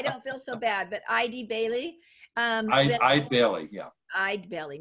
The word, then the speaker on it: Eide Bailly: It's Eide Bailly. I don't feel so bad, but Eide Bailly.